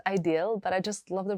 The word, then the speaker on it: Idyl: call it a deal sometimes I call it ideal even though I know that the proper way of pronouncing it is ideal but I just love